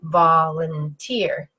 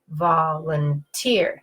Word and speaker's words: volunteer: So volunteer, volunteer. You can hear my voice going up, down, up. Now I have one more